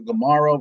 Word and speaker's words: Gamaro: Again, my name's up there, Dr. Gamaro, rhymes with tomorrow, but with a G.